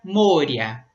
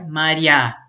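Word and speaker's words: моря: Aí no genitivo troca o ye por ya e aí fica moria, ok? Mas lá quando a gente faz o plural, que isso também acontece de a gente trocar o ye por ya, a sílaba tônica fica no final e aí fica maria, tá? Então a escrita é a mesma, mas a sílaba tônica muda.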